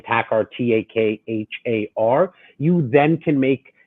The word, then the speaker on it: Takhar: first name and last name um it's pronounced like the music but spelt differently it's last name tacar t-a-k-h-a-r you then can make your own decision